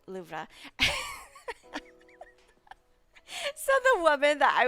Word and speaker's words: Louvre: to pronounce it because people in America they call it the Louvre. Um but in French class when I was taking French, our French teacher was always like loura. So and I we actually went there to and I asked like a person working. I was like is it pronounced Louv or Loura? and she was like, "It's pronounced Lubra."